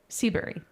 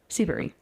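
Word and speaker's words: Seabury: Seabberry. Seabbury. Seabar. Spell it.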